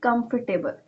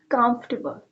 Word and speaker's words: comfortable: It's not comfortable. It's comfortable.